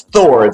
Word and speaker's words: K. Thor: It's Thor. The K is silent in the tradition of Gordy and Elron Hover.